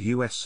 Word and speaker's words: US: seoul which sponsored two u.s festivals with u.s pronounced like the pronoun not as initials initially intended to celebrate